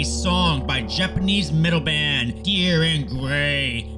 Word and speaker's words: Dir En Grey: by Japanese midle band dear and gray a band I used to pronounce durar and gray go I'm so americanly